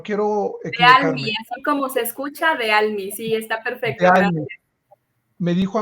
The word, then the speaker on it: Dealmy: bienvenida Hola Hola gracias por aceptar Cómo se pronuncia bien tu nombre no quiero equivocarme Cómo se escucha de almiz sí está perfecto me dijo América que digo